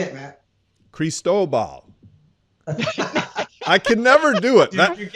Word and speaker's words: Cristobal: Cristobal. I can never do it. Dude, I'm so glad that thing got out of here. I could not get it. It does rhyme with Chernobyl.